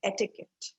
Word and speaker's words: etiquette: by the way people etiquette i know is a word which confuses a lot of people the way it is pronounced is etiquette etiquette means manners mannerisms